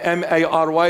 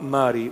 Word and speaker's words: Mari: His name is Mari Mari. They spelled my name M-A-R-Y. They made me Mary. I'm going to see Mari Mari Mary Mary. If you hear Mar Mari, Mar is an Aramaic word, Syriac.